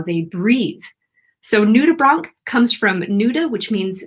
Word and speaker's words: nudibranch: So this is a nudibranch, which has a very strange pronunciation. Most people who see this want to say nudibranch, but it's actually nudibranch.